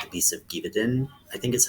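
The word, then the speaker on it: Gévaudan: And then I kind of delved more into it with like looking into folklore of France with werewolves, like the Beast of Givaudan, I think is how you say it.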